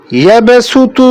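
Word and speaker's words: يبسط: ইয়াবসুতু বাস্ততান, এই দুটাকে সিন দিয়ে পড়তে হবে।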